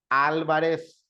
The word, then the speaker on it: Álvarez: lo dijo le digo porque la palabra Álvarez lleva acento porque las palabras estrujulas todas llevan acento y terminan en la antepenúltima sílaba como en este caso Álvarez y alguien me comentó